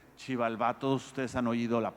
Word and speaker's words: Xibalbá: Y para decir lugar de los muertos decían, eso se lee shib, porque se invierte la sílaba, en vez de shibi se lee shib. Y de ahí viene la palabra maya para el inframundo, para el Mictlán, que es Xibalbá.